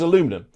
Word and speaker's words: aluminum: In American English, it's spelled like this without that I. So in America, aluminium is alum is aluminum because that's how they spell it. It is aluminum. If you don't put that other eye in, that's aluminum.